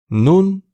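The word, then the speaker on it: نون: Nun ince bir harftir. Dilimizi üst dişlerimize götürerek bu harfi telaffuz edebiliriz.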